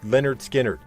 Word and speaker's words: Lynyrd Skynyrd: 1973 with the release of their debut album pronounced Leonard skinnard which featured the iconic Anthem Freebird with its